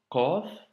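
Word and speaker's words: قاف: lettre Qaf, qui est une lettre emphatique, qui doit remplir la bouche quand tu la prononces et qu'il ne faut surtout pas confondre avec le Kef. Ici, nous avons un Qaf et ici Kef.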